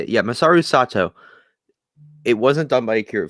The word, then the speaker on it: Masaru Sato: Yeah, Masaru Sato.